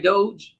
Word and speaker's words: Doge: So the Doge, am I saying it right? Doge? That's right.